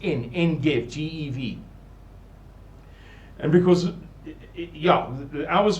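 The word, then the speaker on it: Ein Gev: on that kibbutz, Kibbutz En Gev, spelled Ein, E-I-N, but pronounced En Gev, G-E-V.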